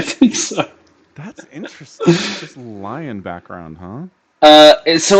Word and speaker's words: Lion: and if lion is is that how you say his name is that Leon is it no it's lion but his full name